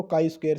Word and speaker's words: chi-square: काई स्क्वायर जो ये word है, ये आपका सिंबल इसका दिया गया है, प्रोनाउंस करते हैं इसको काई स्क्वायर से।